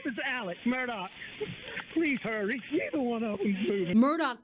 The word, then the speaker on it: Murdaugh: their name all wrong i've already pronounced mardoch and mardo so i've been pronouncing it phonetically now that i heard alex say it i will try to remember to pronounce it murdock carolina supreme court suspended